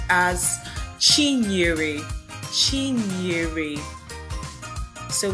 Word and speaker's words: Chinyere: So this name is actually pronounced as Chinyere. Chinyere. So it's Chi Nyere.